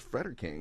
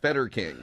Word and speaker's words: Frederking: name yes that's right there is there is an r in there it's freder king not feder King well done sir yeah